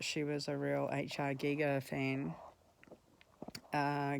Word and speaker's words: Giger: turned out that she was a real HR Giga fan uh gega being you know the um guy who did